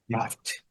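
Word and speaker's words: draught: Essa não é uma palavra muito utilizada pelo professor, porque você fala muito draft, mas o GH com som de F. Draft, som de T no final, draft.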